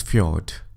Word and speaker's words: fjord: learn how a fjord is formed it is pronounced as fjord these are a long narrow deep inlet of